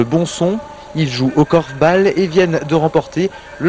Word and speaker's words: korfbal: Une discipline venue tout droit des Pays-Bas, d'où sa prononciation, korfball et non korfball. Ça s'écrit d'ailleurs avec un seul L.